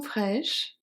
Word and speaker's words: fraîches: Fresh. Fraîche. The E and the S are silent. But the H is not. OK. H is part of the C.